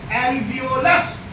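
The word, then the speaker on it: alveolus: है ह हर गुच्छे को हम कहते हैं अल्वियोलस क्या कहते हैं एल एलस ये स्पेलिंग है ए एल ओ एल यू एस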